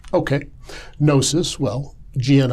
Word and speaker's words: gnosis: Christianity well let's define that term Gnostic or nosis okay nosis well GN o s i comes from the Greek gnosis as they pronounced it it is related uh the same